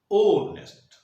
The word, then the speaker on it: honest: हमने कहा ऑनेस्ट person, लेकिन लिखते क्या है? HONEST। जो प्रोनाउंसिएशन निकल रहा है वो निकल रहा है ओनेस्ट।